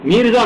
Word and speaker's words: میرزا: میرزا مہدی، یہ نہیں ہے مرزا نہیں ہے، میرزا.